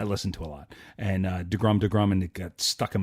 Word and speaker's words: deGrom: to your show, because you don't say it right. It's DeGrom. Everyone else calls him DeGrom, but you guys call him DeGrum for some reason.